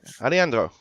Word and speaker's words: Aleandro: Aleandro.